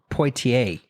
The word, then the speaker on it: Poitier: one I I don't want to butcher the pronunciation try it Sydney potier that's good yeah that's good yeah you know